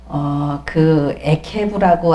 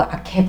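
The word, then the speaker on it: עקב: 에케브라고 아케브 뭐 이렇게 발음을 하는데 발꿈치, 그 다음에 발자국, 군대의 제일 끝이다 하는 이런 의미가 있습니다.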